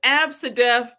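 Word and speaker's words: ABCDEF: They said it's Absidef Jenkins.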